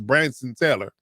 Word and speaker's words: Branson: in the sixth round, I believe it's uh Branson Taylor is how you pronounce his first name. Uh some people call him Brandon, but it's Branson Taylor.